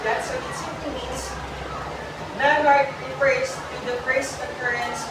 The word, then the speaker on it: menarche: As well as the first period is what we call, and it is pronounced in class, in this highlighted part or highlighted word, menarche.